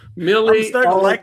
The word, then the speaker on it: Milly Alcock: Milly Alcock.